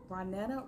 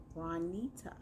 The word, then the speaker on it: Ronita: They're like, Juanita, Ronetta, Ronetta, Juanita. No, Ronita.